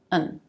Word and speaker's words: one: As a noun or an adjective, it'll probably be stressed. For example, we're looking for one teacher to join our team. One. But it can also be used as a pronoun, and in that case, you might hear it reduced. Instead of one, it'll be un.